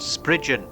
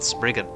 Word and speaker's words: Spriggan: Originally from Cornish folklore, the name of this creature is pronounced Spriggan, not Spriggan.